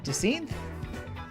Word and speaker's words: Jacinthe: Oh, Jacint. Jacint? Like adjacent?